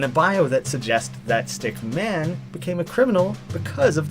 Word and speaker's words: Stickman: see from behind Henry Stickman actually took me a couple takes to get it right I'm so used to saying stick men at this point playing